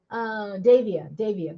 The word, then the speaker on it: Davia: Davia, for coming. Davia, that's right. I remembered how I'm supposed to know your name because it's the same, similar pronunciation as my son's.